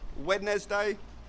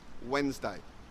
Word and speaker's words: Wednesday: after Tuesday is Wednesday get rid of the D and you'll pronounce this word perfectly Wednesday not wet nest day it's Wednesday and finally we have